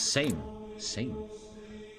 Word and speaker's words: Sejm: Sejm is pronounced same.